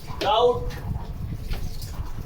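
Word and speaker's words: doubt: Next है हमारा यदि किसी स्पेलिंग में टी के पहले बी आए तब भी बी का उच्चारण हम नहीं करते हैं। जैसे डेट, डाउट, डेटर।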